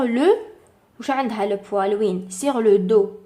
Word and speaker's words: dos: le PO sur le dos d o s prononce pas le S les Sabau s A